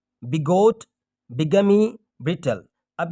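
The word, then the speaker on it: bigamy: देखिए यहाँ पर मैं जो प्रोनाउंसिएशन पढ़ रहा हूँ, जैसे कि यहाँ पे बिगमी पढ़ा, ये इसको बायगमी भी पढ़ते हैं, ठीक है?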